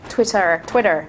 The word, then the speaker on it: Twitter: I find Twitter a little... Twitter. Sorry, I'm saying Twitter like an Australian. Twitter. Got to pronounce the R.